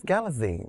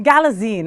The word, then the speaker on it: Galitzine: I guess Galitzine. Galitzine.